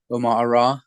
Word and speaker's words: Umar: um you just search my name Omar which is spelled Umar a-r-a-r you'll find me even